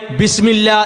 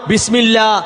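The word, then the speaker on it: بسم الله: ബാ കഴിഞ്ഞാൽ ഒരു അലിഫ് അവിടെയുണ്ട്.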